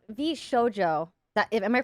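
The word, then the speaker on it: VShojo: my did I did is um the v v SoJO that am I pronouncing it right V SoJO yeah vjo um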